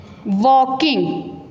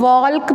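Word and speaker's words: walking: इसकी साउंड नहीं आएगी इसको काफी बच्चे जो है वह वाल्क पड़ते हैं वॉल्व तो यह आपकी मिस्टेक होती है कि इसको हमने दिल को जो है वह उसके साथ नहीं बोलना यह साइलेंट साउंड है इसमें वकील व किंग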